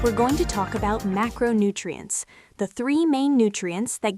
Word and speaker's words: macronutrient: The word is macronutrient. 5 syllables. The primary stress falls on the first syllable, ma. Say it slowly.